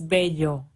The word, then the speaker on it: Bello: comes from Spain and it's b-e-l-l-o so it's bad yo it's like like bajo like La Granja and people never seem to print to pronounce that correctly but anyways moving away from